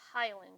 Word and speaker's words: hyaline: So when we're talking about the cartilage that's lining those bones in the joints, and that's my pronunciation, it's hyaline cartilage, Hyaline.